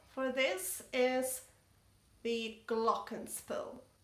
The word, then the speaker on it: Glockenspiel: for this is the Glockenspiel Glockenspiel is a German word and I learned German for many years in the past so I actually tend to pronounce Glockenspiel glocken means bells and